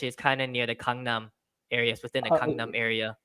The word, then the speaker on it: Gangnam: I always think of the G, but it makes it sound like you have like a silent K in there, like a soft K. It's in between a K and a G.